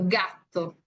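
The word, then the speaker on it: gatto: pronuncia, solo que nosotros, porque lo escribimos con doble T, se escucha un poquito más marcada la T, ¿no?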